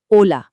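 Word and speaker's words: hola: पहला है बिल्कुल साइलेंट एच। जी हाँ, स्पेनिश में एच की आवाज नहीं निकलती, इसीलिए ओला को हम पढ़ते हैं ओला।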